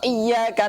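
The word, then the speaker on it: إِيَّاكَ: Tapi ketika bacanya itu tidak ditekan, seakan-akan tidak ada tasydidnya, itu artinya berbeda. Hanya kepada sinar matahari kami menyembah. Ini kan sudah beda jauh ini. Pertama dosa, kedua sholatnya tidak sah. Makanya harus benar-benar ditekan itu.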